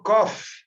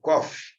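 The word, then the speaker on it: קוף: E aqui kof como café, né? Café, né? Kof, ok?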